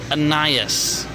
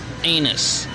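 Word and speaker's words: anise: that over and it says anias that is pronounced aenias it is not pronounced anus learn how to read it's a herb that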